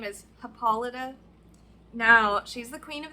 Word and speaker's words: Hippolyta: because it was bugging me her name is paulita now she's the queen of the Amazons honestly